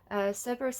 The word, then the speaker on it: Cerberus: I might say Cerberus because, again, it's the way I was taught, but it's Greek. It's Greek, so it probably is a soft C.